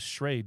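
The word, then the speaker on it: Schrade: I came across this shade I think that's how you pronounce it s CH uh r a d e uh shade uh knife and I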